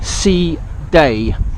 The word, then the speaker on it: Side: Day itself in the old ancient city of C day and C day basic spell si da si de side but pronounced C de s EE da Y and C day basically